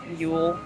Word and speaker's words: Ewell: Ewell, it's spelled weird, and sounds like the Yule Ball, which is what I thought it was spelled like when I got on campus.